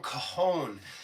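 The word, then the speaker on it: cajón: We are going to be featuring this instrument, the awesome Coahone. It's spelled C A J O N, but like things in Spanish, the J is silent.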